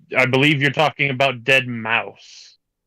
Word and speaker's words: deadmau5: super particular I well one is how you say his name the other is wrong I don't think his legal name is deadmau5 if it is I'm I no but his stage name is dead mouse that's the whole reason